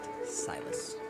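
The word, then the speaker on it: Sylas: thought I had long hair confirmed that it's pronounced silus nice when he was adopted he changed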